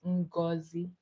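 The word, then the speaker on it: Ngozi: My name is but my um native name is Unazi. My um Nigerian namei. I hope you can pronounce it though.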